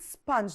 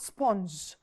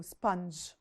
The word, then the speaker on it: sponge: word we pronounce it sponge not sponge okay so you pronounce the U the O as if it's a u sponge number 11 my friend